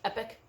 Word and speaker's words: epoch: to me like the the next epoch you know that's how you pronounce it epic um the next uh